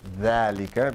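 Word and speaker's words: ذلك: It's read like this, dhalika, because remember, if you have alif and you have fatha, you stretch it. So dhalika is supposed to have alif in the middle, but they eliminated the alif.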